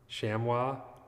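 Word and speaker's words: chamois: Shammy. That's the weird word. I guess it's I never would have guessed that that's how that pron that's pronounced. Depends where you live. Blimpy says Shamwa.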